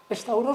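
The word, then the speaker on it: σταυρός: están equivocados porque efectivamente stauros la palabra gria griega que de ahí viene stabros el nombre griego corriente pronunciado en griego moderno estauro significa palo y algunos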